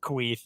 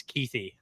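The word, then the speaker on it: Kuithe: think they're going to Brant's last name not not pronounced quei it is keithy key keithy keithy brand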